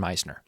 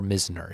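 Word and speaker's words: Misner: And I like Brandon Laauo and Cameron Meisner or Mizner if you want to say his name correctly.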